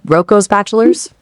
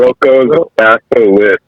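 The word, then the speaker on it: Roko's Basilisk: You said Rocco's Bachelors? I apologize. Those allegations are deeply disturbing. Rocco's Basilisk.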